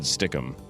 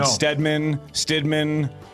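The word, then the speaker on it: Stidham: He just mispronounced it and said Stickum. So that's Mad Dog. Mad Dog can't say it, so you should feel better. Well, thank you. You didn't say Stickum. You said Stidman.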